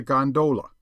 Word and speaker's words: gondola: amongst the fraternity as a gondola with the second syllable emphasized and pronounced long but to return I